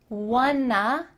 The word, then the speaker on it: wanna: I don't wanna hold you up. Want to is linked together and makes wanna.